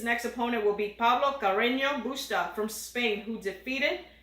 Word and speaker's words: Carreño: So Carreño Busta, by the way, is a solid player and has technically, if somebody is Carreño, because in Spanish the N is ño if it has a line.